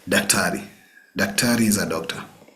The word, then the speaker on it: daktari: We have daktari. Daktari, which is borrowed directly from the doctor in English. Daktari or madaktari. So if you want to see a doctor, you say daktari.